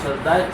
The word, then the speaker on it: সাজদা: শব্দ নাই সাজদা সাজদা আরবি উচ্চারণটা হলো সাজদা সাজদা সাহু সাহু এত